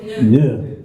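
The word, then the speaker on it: nœud: He said, noué. I said, noué, how do you spell that? N-O-E-U-D. Ne.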